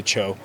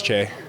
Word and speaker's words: Choe: So they'll just say Chloe, and then if people are really looking at it, they'll just say Choe.